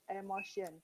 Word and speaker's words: emotions: emotion, audience's emotions, Emotions, not air. All the E sound you're reading air. It's not air, it is E.